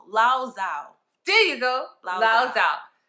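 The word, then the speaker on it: Tzu: It's Zhao. Z-U-T-Z-U is Zhao.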